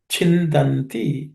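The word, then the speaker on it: छिन्दन्ति: In this, the first letter, chin. It's the second letter in the cha class of consonants, so cha varga.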